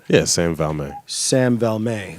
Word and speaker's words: Valme: Yeah, Sam Valme.